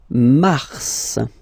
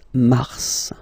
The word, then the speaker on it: mars: Then mars, okay? So in a way, it's an exception because normally final S is not pronounced in French, okay?